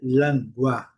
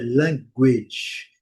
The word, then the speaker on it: language: Nós falamos linguagem em português, linguagem e a tendência é dizer langua, mas a pronúncia correta, pronúncia tecnicamente pelo alfabeto fonético internacional é language.